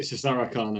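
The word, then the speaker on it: Szarekhan: I pronounced it Cesarican, and then Cesarican. Yeah. It's like Caesarian. You think Caesarian, and you just think, of like the Khan doing it.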